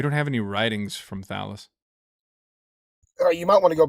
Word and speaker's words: Thallus: You're trying to say Thallus, not Thalius, so you can't even pronounce it right, so jot that down.